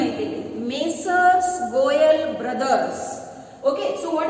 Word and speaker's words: Messrs.: Okay, ಉಚ್ಚಾರ ಆಗಬೇಕಾದ್ರೆ ಹೆಂಗಾಗ್ತದೆ ನೋಡ್ರಿ, Messrs.